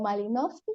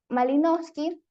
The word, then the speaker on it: Malinowski: El estudio comenzó justamente con Malinowski, creo que se pronunciaría así, que fue uno de